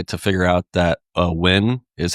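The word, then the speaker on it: Nguyen: the the number the the amount of time it took me to figure out that uh Wyn is how you pronounce the name that's spelled N G U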